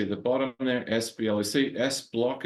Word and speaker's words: SBLOC: S-block is how I'd pronounce it.